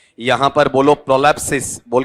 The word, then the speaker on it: prolepsis: ठीक है, चलो आपने उच्चारण बोला है तो मैं वही ले लेता हूं आपका। ठीक है, यहां पर बोलो प्रोलैप्सिस, बोल के बताओ, देखिए क्या है आपका प्रोलैप्सिस।